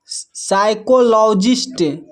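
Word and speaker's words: psychologist: यहाँ पर देखिए पी एस जो है एक साथ है तो यहाँ पर पी साइलेंट है। इसको पढ़ते हैं साइकोलॉजी, साइकोलॉजी। नेक्स्ट है साइकोलॉजिस्ट, साइकोलॉजिस्ट।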